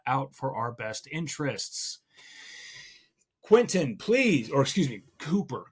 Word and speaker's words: Quintin: Quintin, please, or excuse me, Cooper Quintin.